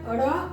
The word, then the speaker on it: ण: इसका उच्चारण। ण ण ण ण। पीछे जो जा रहा है जीभ मुड़कर मुर्धा की तरफ जा रहा है और झटके से बाल फेंका रहा है।